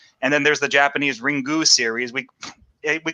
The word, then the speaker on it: Ringu: Um, that's how they say it though. Yeah, they say ringu, you know, is is their phonetic system.